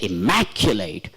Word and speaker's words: immaculate: see this Immaculate Immaculate so when I say Immaculate I stress I put a stress here in front of man so that's how how